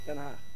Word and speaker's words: Den Haag: Den Haag.